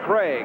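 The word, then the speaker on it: Krieg: problem there is Young Dave Craig k-r-i-e-g but pronounced Craig and he'll be coming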